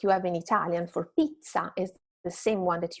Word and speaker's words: pizza: So, double consonant is pizza, not pizza, right? Pizza. So, when you have a double consonant in Italian, you just need to make the sound a little bit longer than a single consonant word and stronger.